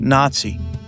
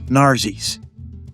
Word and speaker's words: Nazi: The one word Churchill continued to famously and purposefully mispronounce was the word Nazi, which he pronounced Narsis.